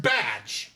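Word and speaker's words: Bdg: It's pronounced badge.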